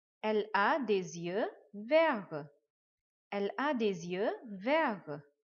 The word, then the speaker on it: verts: The last letter T we will not pronounce. Elle a des yeux verts.